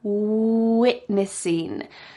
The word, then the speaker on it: witnessing: you need to do to have a clear W is to make a little kissy face. We are witnessing. And with the V sound, your top teeth are on your bottom lip. Vanessa.